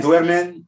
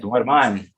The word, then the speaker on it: duerman: Because you're saying duermen, and that's exactly what you got there, duermen. Now, I don't know if you meant to say that, because it should be A-N. Duerman. Duerman.